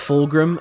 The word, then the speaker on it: Fulgrim: Oh, it is pronounced Fulgrim.